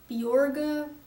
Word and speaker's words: Bjorge: It's supposed to be pronounced Bjorge, but it's too hard for getting Americans to say Bjorge.